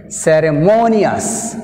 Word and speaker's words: ceremonious: Ceremonious, ceremonious, mo-nious, mo-nious. Here, mo, second syllable, nious, first syllable.